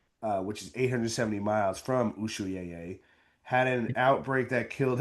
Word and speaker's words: Ushuaia: How would you pronounce that? USH UAIA. Ushuaia. Ushuaia. That's Ushuaia.